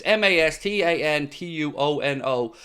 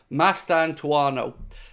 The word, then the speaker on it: Mastantuono: Now again, excuse my pronunciation there. It's Mastantuono. So Mastantuono.